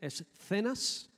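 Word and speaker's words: esenios: Con C, escenas, para que me entendáis cómo se escribe, escenas, ¿no? Los escenas, yo digo escena, pero escenas, eran una secta.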